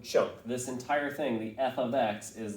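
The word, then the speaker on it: f(x): i want to go over the that's usually pronounced f of x it means f is a function of x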